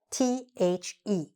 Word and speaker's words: the: simple word and that's the word that is spelled t h e why don't I say it because have you realized that this word is often pronounced in two different ways sometimes we pronounce it